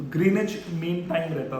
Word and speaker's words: Greenwich: हैं ग्रीनवे मिन टाइम लेकिन एक्चुअल में व साइलेंट रहता है तो ग्रीनवे मिन टाइम रहता था